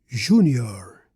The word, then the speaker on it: Júnior: And uh the last two words are vis and junior. Junior. They both have an acute accent. Show us exactly where to place the stress.